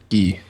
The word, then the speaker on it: Guy: Gee, G. Canadians, Canadians pronounce Guy as Gee, like G E.